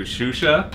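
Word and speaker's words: Xuxa: with one stone, because I'm going to introduce you to Shusha. That's how you pronounce that. Oh, Shusha. How did you say it? Chucha?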